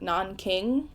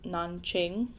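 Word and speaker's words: Nanjing: The book spells the city like non king which was the spelling used before in English but the correct spelling and pronunciation is nonqing unless Google lied to me.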